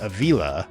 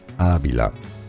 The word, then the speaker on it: Ávila: His name was pronounced Avila with the accent on the second syllable when it should have been Ávila.